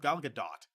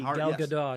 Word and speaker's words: Gal Gadot: Apparently it's pronounced Gal Gadot. Keep messing that up. Okay. Yeah. It is a hard T, Gal Gadot.